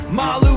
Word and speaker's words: Malou: Malu Beyonce, pronounced like Skip to Malou, and superfan Gabe K.